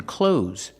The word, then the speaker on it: clothes: Pronunciation, clothes. Use the long O like no and go, clo, and the Z sound like zebra, z, clothes, clothes.